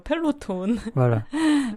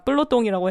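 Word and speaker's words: peloton: 꼭 알아야 되는 이름이에요 프랑스 발음으로 그 한국 발음이 약간 이상한 발음이에요 펠로톤 아닙니다 쁠로똥이라고 해야 됩니다 그거 뭐인가요 자전거 대회나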